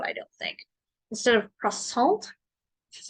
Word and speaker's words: croissant: the French would I don't think instead of cross salt which is how I'm familiar with pronouncing it it's croissant the I the oi is not pronounced like